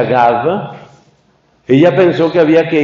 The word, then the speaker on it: Gave: Se escribe Gave, se pronuncia Gave.